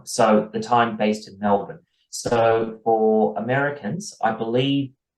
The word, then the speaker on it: Melbourne: especially in it's written Melbourne. We're American. We pronounce the R's. I'm sorry, you guys call it Melbourne and then get mad at us when we mispronounce it.